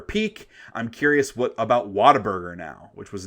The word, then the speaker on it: Whataburger: It is, you're right. It's Whataburger. Right. It's like what an amazing burger.